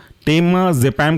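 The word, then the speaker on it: टेमाजेपाम: लोरा जपाम next example है आपका टेमा जपाम टेमा जपम के स्पेलिंग है टेमा टी ई एम ए और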